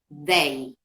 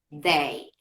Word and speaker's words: they: Y el otro sonido de la TH es da, el da, como una D. Da, ¿sí? Que también es una D que va dental, entre los dientes.